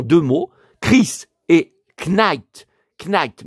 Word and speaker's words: Knight: Knight mais le cas ne se prononce pas comme Michael Knight.